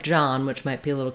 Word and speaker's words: John: Then when it comes to the man's name, John, even though it has an OH in it, it is the ah vowel.